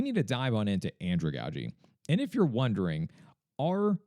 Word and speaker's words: andragogy: talk more about the ins and outs of Androogi and really what makes this so unique.